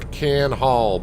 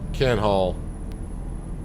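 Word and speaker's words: Kan Hall: Like the name of that trailer, Can Hall, but it's spelled K-A-N. Can Hall.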